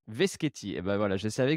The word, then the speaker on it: Veschetti: Aujourd'hui, je reçois Veschetti. J'ai bien prononcé, ton nom, ça va? Pas tout à fait, c'est Veschetti. Veschetti.